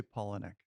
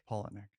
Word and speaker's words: Palahniuk: We say Polinick. Polnick? Polinick.